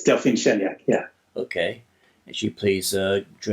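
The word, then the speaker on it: Delphine Chanéac: And then I hope I'm going to try to pronounce this one. Delphine Cheniak? It's Delphine Cheniak, yeah.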